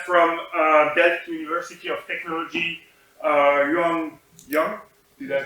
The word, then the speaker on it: Liu Jian: So we have from Delft University of Technology, Liu Jian. Did I pronounce that correctly?